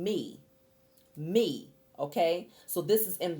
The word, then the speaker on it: mi: It's spelled M-I, but you're saying me, okay?